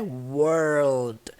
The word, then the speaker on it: world: Então a pronúncia é world. Você vai elevar o som do R e do L lá pra dentro. World.